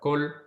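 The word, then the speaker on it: כָּל: Will be What's pronounced kol.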